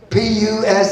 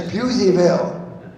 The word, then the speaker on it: Puseyville: Pusseyville. You're wrong. That there's Puseyville.